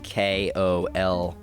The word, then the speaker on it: Kolkata: The old name, or the current name for it is Kolkata, which is Kolkata.